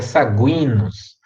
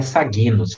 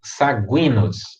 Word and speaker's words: Saguinus: o sagui na fica saguinus nunca falem sabinos tá é saguinus essa aqui é um